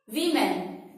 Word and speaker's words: women: Okay friends, let's proceed with our next word. Wih-men. WOMEN, Wih-men. Wih-men means औरत। लेकिन हम लोग इसे गलत प्रोनाउंस करते हैं, हम लोग बोलते हैं वुमेन, WOMEN, वुमेन। हम ओ के ऊपर इतना प्रेशराइज कर देते हैं जिससे कि हमारा साउंड निकलता है वुमेन। वुमेन इज रॉन्ग pronunciation. It's right pronunciation in English is वीमेन। आइए मेरे साथ प्रैक्टिस कीजिए। वीमेन, WOMEN, इट्स वीमेन। इट्स नॉट वुमेन, इट्स वीमेन।